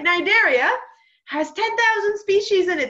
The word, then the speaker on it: Cnidaria: It's Cnidaria. Cnidaria. Just so you know how to pronounce it.